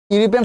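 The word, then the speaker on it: European: দেখো তোমাদের মনে আছে কিনা, এখানে কি সাউন্ড আছে বলতো? ইউ সাউন্ড আছে না?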